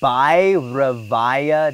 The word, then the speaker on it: Bhairavaya: And remember that the B-H-A is like bha. Bha. Yep. Pi, pi, pi. Devaya? No, the ba, whatever the second word is. Bhairavaya Devaya.